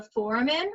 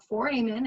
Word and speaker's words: foramen: This big hole is called the foramen, or foramen, again, however you want to pronounce it is fine, foramen magnum.